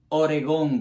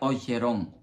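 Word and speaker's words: Ogeron: tortuga a bertrando gerón no Oregón como escribe alguna gente por error sino o jerón con g pero en francés se pronuncia oeron bajaron a a y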